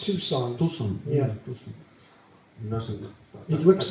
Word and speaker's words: Tucson: Tucson Temple Tu Tucson yeah in Arizona it's pronounced Tucson Tu yeah it looks like Tu but it's